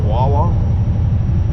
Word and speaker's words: Wawa: I'm pretty sure the next town we're coming to is a town called Wawa. That's how you pronounce it correctly.